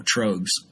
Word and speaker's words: Troegs: So we just basically combined their surname with the Flemish word, and there you go, Troegs. Now it makes sense. And I realized that I could have pronounced it right because you do have the little dots over the O.